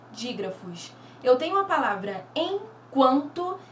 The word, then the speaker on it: enquanto: Eu tenho aqui a palavra enquanto. Quando pronunciamos o enquanto, percebemos bem a letrinha U sendo pronunciada.